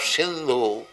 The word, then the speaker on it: Hindu: arabia and other countries they pronounce h as s as h instead of sindhu they used to pronounce it as hindu so people living crossing